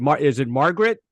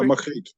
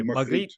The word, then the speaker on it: Margriet: Your singer, is it Margaret? Yeah, Margriet. Yeah, we say Margriet.